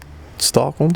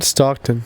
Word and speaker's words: Stockton: bird stockholm is that you say his name stockholm stockton stockton